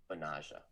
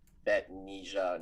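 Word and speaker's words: Betnijah: liberty i found out that her name is pronounced benaja not vetnija not brittany not anything else i'm pretty sure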